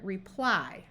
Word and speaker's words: reply: makes things more complicated y at the end of a syllable if it's not the last syllable often says the long I sound of I and it does it in this word here reply most of the time